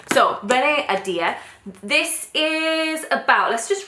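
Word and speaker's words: Ahdieh: correct ways say her surname is uh Dia Adia so Renee adir this is about let's just read the blurb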